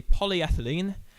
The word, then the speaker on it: polyethylene: The standout tracks on this EP, apart from Airbag, would be Polyethylene. Yes, I have pronounced that right.